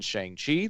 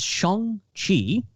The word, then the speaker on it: Shang-Chi: perspective of the characters in Shang-Chi, that we're going to be seeing it from the perspective of the characters in Spider-Man.